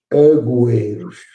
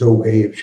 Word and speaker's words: Agüeiros: O pessoal, em vez de dizer Agüeiros, diz Ougueiros, que é mais rápido. Ou pôs uma sílaba. E, portanto, deveria ser a Rua dos Agüeiros e não a Rua dos Ougueiros.